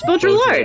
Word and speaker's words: Baudrillard: Yeah, Cole is now calling you out on the pronunciation of It's Baudrillard. Baudrillard. Oh, is it Baudrillard? I've always said Baudrillard.